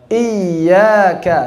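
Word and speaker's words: إيّاك: Cara bacanya dengan nabr. Iyyaka, silakan. Iyyaka, bukan dipanjangkan menjadi iyyaka karena tasyabbuh dengan mad.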